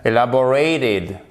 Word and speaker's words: elaborate: Ensuite, seul en début de mot en tant que syllabe non accentuée. OK. Bon, en fait, qu'est-ce qui se passe? Le E est tout seul. Il constitue une syllabe à lui tout seul et il est non accentué. OK? Donc là, il se prononce comme un I court.